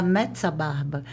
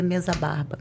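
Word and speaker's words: Mezzabarba: emoção Pois é então o mesa barba com dois e que a gente deveria pronunciar metsa barba mas para nós aqui é mesa barba Eu acho que eu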